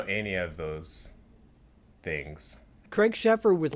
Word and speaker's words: Sheffer: And one more actor, dude, Mick, fucking played by Craig Schaefer from Sheffer. Okay, is that how you pronounce it?